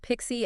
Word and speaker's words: PXE: Yeah, PXE, often pronounced Pixie and DHCP.